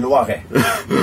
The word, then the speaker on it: Loiret: Is that how you pronounce it? Loiret. Loiret.